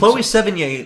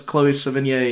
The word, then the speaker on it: Chloe Sevigny: younger woman, but Chloe Seven, how do you pronounce her name? Sevigny? Yeah, I think Chloe Sevigny looks younger in Spectre than Eva Green does in Casino Royale.